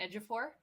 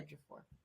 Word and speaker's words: Ejiofor: Ejiofor. Yep. Yeah. Chiwetel Ejiofor. I'm going to Thank you. Ejiofor.